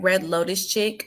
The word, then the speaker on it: Red Lotus Chic: Okay, so you guys can find me at Red Lotus Chick, and Chick is spelled CHIC.